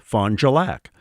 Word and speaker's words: Fond du Lac: Well, in French, farthest end of the lake is Fond du Lac, or as we say in Duluth, Fond du Lac. It's one word. There's like a J in there.